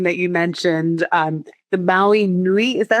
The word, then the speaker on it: Maui Nui: Um, so the one that I'm drinking that you mentioned, um, the Maui Nui, is that how you say it? Newi. Yep. Maui Newi.